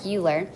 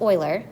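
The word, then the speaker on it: Euler: formul a formula called Oiler formula I know it looks like uler but it's pronounced Oiler and this guy created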